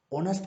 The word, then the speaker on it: honest: හැබැයි මෙතෙන්දි H අකුරට එන හ ශබ්දය මෙතෙන්දි drop වෙලා ඒ වෙනුවට honest කියලා තමයි ඒක pronounce වෙන්නේ.